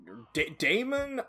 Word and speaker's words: Daemon: Daemon? I think it's supposed to just be pronounced like Demon, but that A always throws me off, so I always say it like Demon.